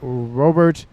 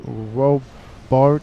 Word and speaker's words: Robart: And rounding out Team 1's northern side is Robert, not Robert. It's not Robot, but Robart.